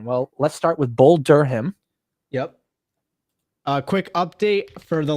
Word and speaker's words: Durham: Oh, no H pronounced, just Durham.